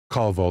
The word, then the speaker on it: Calvo: That's my little trick to remember how to pronounce it. Calvo like Volvo.